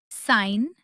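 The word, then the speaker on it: sign: जी साइलेंट होता है जब वो एन से पहले आए। जैसे साइन, डिज़ाइन, फॉरेन और कैंपेन। यहां जी को बिल्कुल भी प्रोनाउंस नहीं करना है।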